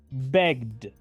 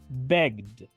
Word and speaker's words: begged: Begged. Begged. A partir de esto podemos ver que la regla nos dice que cuando el verbo en su forma base termina en una consonante sonora, la terminación ED va